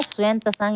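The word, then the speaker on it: Xuanzang: स्वयं त्सांग इसका जो है शुद्ध नाम उच्चारण अगर लेंगे स्वयं त्सांग तथा अन्य तीर्थयात्रियों ने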